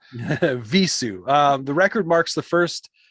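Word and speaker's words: Vheissu: I've never known how to say the title of this record, so I Googled it. Yeah, It's Hebrew. Visu.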